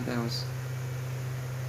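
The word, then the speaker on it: Θεός: Ini Theos ya saudara. Bacanya Theos.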